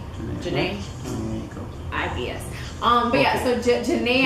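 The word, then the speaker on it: Jhené: Janae.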